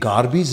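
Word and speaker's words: garbage: Pronunciation पे ध्यान दें, ये गार्बेज है। मैंने पहले भी आपको बताया है कि जिन शब्दों के लास्ट में AGE आता है उसके अलग अलग प्रोनाउंसिएशन हो सकते हैं।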